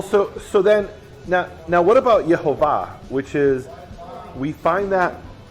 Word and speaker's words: Yehovah: Shva cholam kamatz in Hebrew. Yehovah. Now you could say they didn't know what they were talking about. Like Shiva, cholam kamatz pronounced like o, a. And or look, there's different Hebrew dialects. In some Hebrew dialects, the kamatz is aw, right? So it could be Yehovah, right?